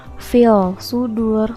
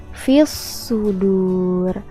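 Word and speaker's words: في الصدور: alif lam dan tadi cara bacanya itu bukan files sudur tapi fish sudur ya l-nya itu tidak dibaca tapi langsung masuk ke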